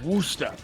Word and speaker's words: Worcester: It's Worcester. It's Worcester. It's Worcester. Worcester. W-U-S-T-A-H.